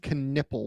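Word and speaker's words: Knueppel: Connect and Knippel. When was the last time we had two KNs that pronounce both the K and the N in the draft?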